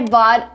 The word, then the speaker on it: bought: The T is between vowels phonetically. Boughta. So we use a fast D.